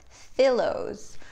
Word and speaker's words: Fillows: So we've got Kisses, and we've got Fillows. I think that's the correct pronunciation. I'm assuming it's like filled pillows.